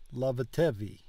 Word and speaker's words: Lavatevi: I guess I don't naturally stress that middle syllable, and I think when it's three syllables like that, I need to stress the middle one.